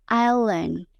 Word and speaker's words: island: Terus ada lagi nih kata island, banyak yang bilang island. Padahal S di tengahnya itu silent, jadi bacanya island.